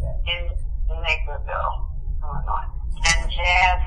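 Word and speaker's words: Jas: Lord gave me the name Jazz, because the J-A-S, Allison Salon too, and pronounce it Jazz, because it's kind of more masculine for men.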